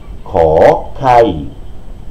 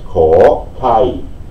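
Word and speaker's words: ข ไข่: Das wäre wie ein K ausgesprochen. Schauen Sie. K, K, K, K. Na, okay. Gut, noch eine Besonderheit ist hier, da geht es bei dem K etwas hoch. Das hat aber später dann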